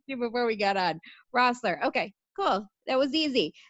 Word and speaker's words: Roessler: It's Roessler. Just don't even look at the E.